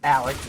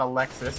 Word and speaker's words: Alex: And I'm being told it's Alex and not Alexis. He's not a girl.